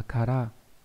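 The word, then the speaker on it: 唐: Cái chữ này là chữ kara, đọc là kara, nó là chữ đường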